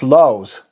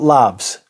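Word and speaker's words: Lavs: Pronounced Laus, I believe. Not Labs. It's the Latin V, which is a U.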